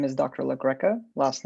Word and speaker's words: Lagreca: members of the jury my name is dr legreca last name is spelled l-a-g-r-e-c-a now dr look greco what is